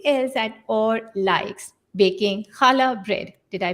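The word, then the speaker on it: challah: and there's something else that or likes baking chala bread did i pronounce that right yes okay and cooking other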